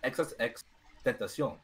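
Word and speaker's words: XXXTentacion: No, if you listen to the No Jumper interview with Adam 22, he says, "My name is XXX Tentacion." That's how he says it.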